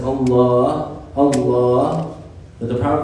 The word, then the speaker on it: Allah: saying dhikr, but they're mispronouncing the name of Allah. They either say Allah, or they say Ah, or whatever other mispronunciation, and they think that they're saying like 1,000 worth of dhikr.